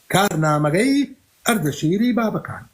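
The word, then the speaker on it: كارنامك اردشير بابكان: هذا النص في كتاب كارنامغي اردشيري بابكان عندما اقول كارنامغي اردشيريكان هنا انا لا انطق بالكردي هذا هو النطق البالوي لاسم لاسم لاسم كارنام اردشی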